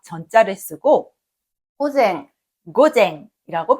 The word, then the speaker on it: 午前: 1번으로 오전은 한자로 낮자에 앞 전자를 쓰고 고쟁 고쟁이라고 발음합니다.